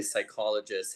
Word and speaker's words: psychologist: it was P psychologist I didn't know that the P was silent at that time and um and then and just reading what the psychologist had done you know